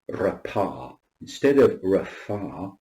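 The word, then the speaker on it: רפא: That's his personal name, Yahweh Rapha. Yahweh Rapha. And that means the Lord who heals. It's found in Exodus chapter 15, verse 26, and here the pei receives the soft pronunciation of F.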